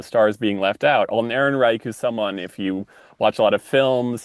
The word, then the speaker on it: Ehrenreich: Ehrenreich. Ehrenreich, thank you.